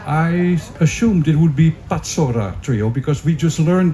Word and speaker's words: Pacora: So this is why this name is pronounced like Pacora.